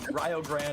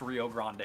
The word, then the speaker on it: Rio Grande: you just joining us, we are going to be calling this team Rio Grande. We are not pronouncing it wrong. This is the team from Ohio. Oh, actually, shout out Ohio. I live there. I love it. But Rio Grande, they are from Ohio, and it is not pronounced Rio Grande.